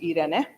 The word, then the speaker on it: Irene: So it's spelled like Irene, but pronounced Irene.